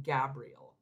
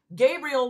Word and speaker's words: Gabriel: I said his name wrong last time. I literally called him Gabriel. I'm sure that he was just like, wow. Anyway, Gabriel, one of the holy